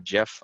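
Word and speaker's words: GIF: or a PNG or a Jeff I say Jeff I stand on that side of the acronym and how to say it button text this is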